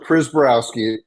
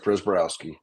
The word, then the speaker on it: Prziborowski: spell your name sure pris barowski people get intimidated looking at it you flip the I and the Z around and flows like pris barowski and if not whatever